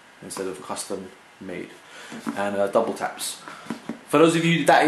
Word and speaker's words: WTAPS: And Double Taps. For those of you, that is how you pronounce the name of this brand, Double Taps. It's not Woo Taps or Wood Taps or W Taps.